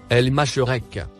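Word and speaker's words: المشرق: Le mot en surbrillance vert se prononce El Masherek.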